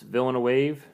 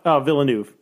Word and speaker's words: Villeneuve: It's directed by Denis Villeneuve. God, I'm so bad at pronouncing names. Villeneuve Denis Villeneuve Um who did Blade Runner 2049, which was my favorite movie of that year.